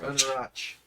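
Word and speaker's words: Anauroch: The right inflection on the right syllable. It's just sh. Yeah, it's just Anarach.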